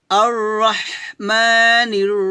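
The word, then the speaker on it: الرحمن: বিশ্বজাহানের রব তারপর আর এখানে দেখুন আলিফে জবর জের পেশ কিছু নাই তো যেহেতু পরের হরফটা লাম এজন্য আমরা আলিফে জবর দিয়ে র সাথে মিলাবো আর এভাবে আর রাহ হাটা চিকন করবেন রাহ এভাবে আর রহমানির রাহিম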